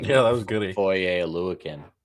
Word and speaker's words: Foye Oluokun: Foye Oluokun. That's how you pronounce his last name.